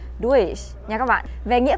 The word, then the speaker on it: durch: về phát âm thì có nhiều bạn mình nghe hay đọc là durch, durch, durch. Nói chung là sai hết nha các bạn. Các bạn hiểu đơn giản là giống như là đuôi thêm chờ vậy.